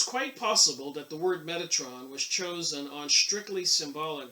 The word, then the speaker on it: Metatron: magical text suggests that the word was pronounced med me that's wrong rather than Metatron so they're just discussing